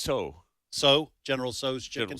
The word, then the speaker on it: Tso: I always call it General Tso's, but how is it actually pronounced? I believe it's so.